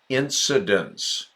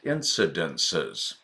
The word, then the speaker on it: incidents: with the NTS ending the one with the pronunciation incidents not incidences incidences well that means